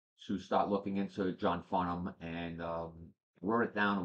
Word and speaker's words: Farnham: That H is definitely silent in his name, but let's get an education on this, and we'll go full.